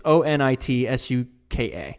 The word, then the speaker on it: Onitsuka: It's Onitsuka. So I think, however you want to pronounce that.